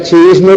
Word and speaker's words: chiismo: Palabras del tipo chiita, chiismo tienen 3 sílabas.